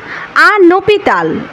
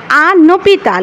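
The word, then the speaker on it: un hôpital: ইব মানে হচ্ছে আউল আনপিতাল আনপিতাল এখানে আবার লিয়াজ হচ্ছে কারণ কি ওযে প্রথমটার এজ মিউট ছিল কিন্তু এর পরেরটার এজ কিন্তু মিউট না এ কারণে আনপিতাল আনপিতাল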